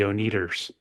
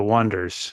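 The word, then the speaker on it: Oneders: is called the Wonders they spell it originally o n d e RS and everyone calls them the oners they say they're the wonders so we'll call you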